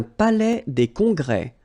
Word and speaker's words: palais des congrès: Un palais des congrès. Final S here and here are not pronounced.